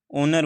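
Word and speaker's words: honour: यहाँ पर जो ओनर वर्ड है उसकी जो प्रोनाउंसिएशन है, उसका जो साउंड है वो वोवल का है।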